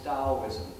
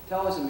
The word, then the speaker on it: Taoism: on animism that is Taoism sometimes it's spelled with t-a-o sometimes it's spelled d-a-o metallism is an original